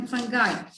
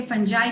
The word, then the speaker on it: fungi: आप लोगों ने सब, कुछ लोग इसे फंजाई कहते हैं, कुछ लोग इसे फंगाई कहते हैं. बहुत प्रोनाउंसिएशन आर करेक्ट. ठीक है, फंगाई भी ठीक है, फंजाई भी ठीक है, कंफ्यूज नहीं होना इसमें.